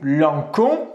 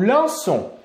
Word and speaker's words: lançons: Donc on n'oublie pas ici de rajouter une cédille au C pour permettre à la lettre C de faire le son S. Sinon, on prononcerait nous lançons.